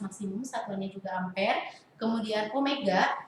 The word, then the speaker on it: omega: Kemudian omega itu bukan W ya, tapi omega dibacanya itu sama dengan frekuensi sudut, satuannya radian per sekon.